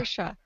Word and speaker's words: Saoirse: it's translated from an Irish Scottish, which phonetically, when you're translating other languages, the way that they pronounce them, when Right. they're written out in the English, English characters, are not necessarily how regular, traditional English pronunciation Saoirse. is. Right. They have a Saoirse. totally different, they look at the same